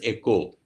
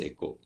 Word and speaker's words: eco: understand this word eco derived from the greek word o i k o s which is pronounced as echo so this is pronounced as echo this word means home